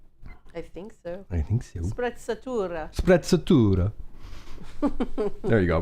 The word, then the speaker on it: sprezzatura: channel just about hair, and that wouldn't be spreadstura. Whatever. Dude, I'm gonna butcher it. Spreadstura. It's an Italian word, right? I think so. Sprezzatura.